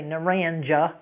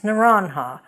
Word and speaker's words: Naranja: to high school and you don't say Naranja it's nanha but we grew up knowing